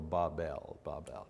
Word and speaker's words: Babel: There's a million ways to say it, but I've looked at the phonetics of it, and the phonetics say the pronunciation should be B-A-W-B-E-L, so Babel.